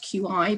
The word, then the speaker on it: qi: body to include hormonal balance the concept of chi spelled q i but pronounced qi lies at the very heart of